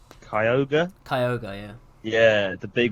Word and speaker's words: Kyogre: i always liked i don't know how to pronounce kyogre kyogre yeah yeah the big whale mother oh